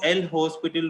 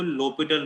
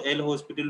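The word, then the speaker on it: L'Hôpital: इसको एल हॉस्पिटल rule नहीं बोलते, इसको लोपिटल रूल बोलते हैं। ये कोई मैथमेटिशियन था, उसका नाम था, इसमें एस साइलेंट होता है, लेकिन तुम चाहो तो एल हॉस्पिटल रूल भी बोल सकते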